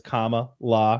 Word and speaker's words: Kamala: Harris's uh first name I know that it's comma law because like a comma punctuation Point law but Joe Biden says